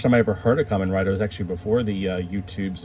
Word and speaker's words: Kamen Rider: very much want you I used to pronounce it came in writer I think and then like the American show Kamen Rider came out uh Kamen